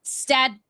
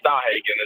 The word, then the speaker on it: Stadhagen: It's not Stadhagen. How do you say it? Stadhagen. Staw. Are you German? Like, what's the name of origin? Yeah, it's German. So we kind of Southern-fied it a little bit. And I don't know how they say it over there, but yes, Stadhagen is how we pronounce it.